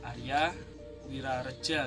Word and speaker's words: Aryo Wirorejo: Kali ini saya sudah di makam Mbah Aryo Wirorejo, Mbah Arya Wirareja kalau dalam pengucapan bahasa Indonesia.